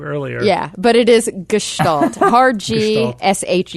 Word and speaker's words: Gestalt: have you stalled yes it's ghost alt it's German it's Gestalt I don't know literally